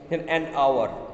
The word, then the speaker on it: hour: and another is uh if any word um begin with the silent h okay silent h silent h also uh and and okay an hour and honest man these are all and n an honorable person okay so these are